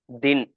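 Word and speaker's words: दिन: தி, இது 2 சொல்லி நா, தின். இதுதான் இது. ஓகேங்களா? ப்ரொனவுன்ஸ் பண்ண வேண்டியது 2 லெட்டர் வந்தா 2வது லெட்டர் புள்ளி வச்ச மாதிரி படிக்கணும். அதனால தின்.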